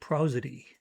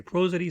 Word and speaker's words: prosody: Next question I ask myself, continuing our process here, does it need prosody? It's pronounced 2 different ways. Some people say prosody, some say prosody.